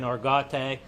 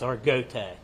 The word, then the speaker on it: Argote: It's some people's been saying Argote, but the family, it's Argote, is how they pronounce the last name.